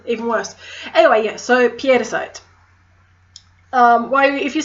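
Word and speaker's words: pietersite: Next is piedicite. Now, everyone's tempted to call it petersite, which, while being not wrong, my Dutch mother would kill me because it's actually P-I-E-T-E-R.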